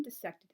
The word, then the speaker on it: dissect: class, the professor said it's pronounced dissection or dissect. It's not dissect because like the way it's formed from different roots.